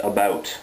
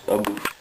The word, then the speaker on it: about: form of flattery and it's pronounced about not a boot all right guys um